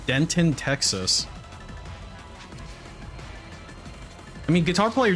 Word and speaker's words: Denton: I think that guitar player lives in a place called Denton, Texas. I mean, guitar player just tipped today, right? Hey, that rhymes with Renton. So it's called Denton. It's called Denton, Texas.